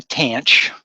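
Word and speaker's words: tanh: of X pronounced the tanch I know there's no c in there I always threw me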